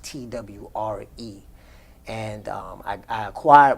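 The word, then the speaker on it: Twi: a of twee and it's spelled t-w-i but it's pronounced t-w-r-e and um i i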